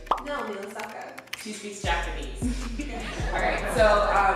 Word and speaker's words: Naomi Osaka: Naomi Osaka. She speaks Japanese. Alright, so we definitely want to keep everybody's name pronounced correctly here.